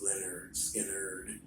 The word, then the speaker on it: Lynyrd Skynyrd: that kind of like uh interested me to Lynyrd Skynyrd um and put you know plus all the great things you'll hear when you're a ga pronounce Leonard Skinner you know and you know how you hear